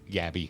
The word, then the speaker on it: Gabi: Get a better insurance with Gabby.